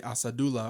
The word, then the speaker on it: Asadullah: I Well, know, his teammates are calling him Asajula. right, but like I feel like sometimes players with a somewhat hard to pronounce name or like non-traditional names sort of just let everyone say their name wrong because it's easier than saying no, it's actually Asadullah or something like that.